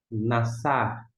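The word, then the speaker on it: נשא: E aqui o a, o que não é pronunciado. Nassar, nassar, levantar.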